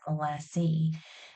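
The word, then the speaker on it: 'lassy: Generations will call it lassi so they'll drop the ESS and add an ey which is really interesting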